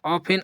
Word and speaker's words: often: यहां पास याद रखना फ्रेंड्स जो इसको पढ़ा जाता है ऑफेन और यहां पास जो टी है यह साइलेंट होता है। इसका प्रोनाउंसिएशन नहीं होता। इसलिए इसे ऑफेन पढ़ा जाता है।